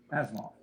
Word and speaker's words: Asimov: Asimov.